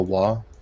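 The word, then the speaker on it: Waaagh: wise is it wha-wha if you hear them pronounce it it's a war and the GH is completely silent I've heard enough I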